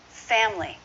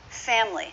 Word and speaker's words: family: family just two syllables family family do you say it with three syllables family pronounce it with two you'll sound more natural let's go here ten